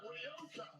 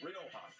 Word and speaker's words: Rioja: Ryoka.